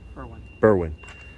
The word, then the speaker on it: Berwyn: So all of you watching, just know that how do you pronounce it? Berwyn? Berwyn.